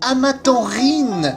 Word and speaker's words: Amaranthine: Waouh, depuis le début de cette série, je le prononce mal. C'est Amatanrine, voyage.